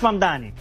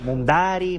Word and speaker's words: Mamdani: Nadie sabe pronunciar mi apellido, es Mamdani, pero a cada rato me dicen Mundari, Mumnari, no me molesta.